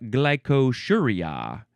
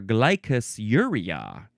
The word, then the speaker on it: glycosuria: Now we have glycosuria or glycosuria. Either one is fine.